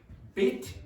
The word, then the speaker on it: bit: So the pronunciation of this is bit, it, and this is beat, beat, bit, beat. Okay, Laurent?